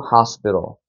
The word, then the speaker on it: hospital: 그러니까 이거를 호스피틀이라고 읽지 않는 거고 어떻게 읽어야 되나요? hospital이라고 읽는 거죠.